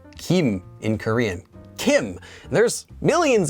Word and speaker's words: 김: but it's of course when it's used in a last name it is always read as Kim now it wasn't always